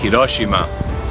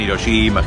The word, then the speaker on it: Hiroshima: Si no quieren decir Hiroshima, digan Hiroshima, Hiroshima, está bien, no pasa nada.